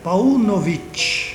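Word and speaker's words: Paunović: é um pouco diferente na verdade é de origem sérvia e se pronuncia pau novit oi e para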